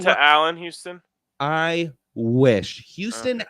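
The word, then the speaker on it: Houstan: Houston actually spelled with a Hostan, which really pisses me off, but still pronounced Houston.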